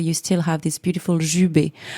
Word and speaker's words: jubé: Jubé. It's jubé. Yes. How do you spell that?